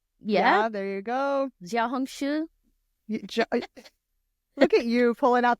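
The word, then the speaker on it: Xiaohongshu: Jiaohongshu.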